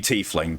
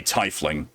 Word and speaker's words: tiefling: topped him so hard I'll say tiefling because that's if you know anything about German pronunciation it's supposed to be tiefling but I've heard it said in this game already typhling spiritual there's no way